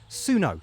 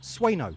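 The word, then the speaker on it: Sueno: And am I even saying it correctly? Probably not. Suno stone. It's probably pronounced Sweno stone.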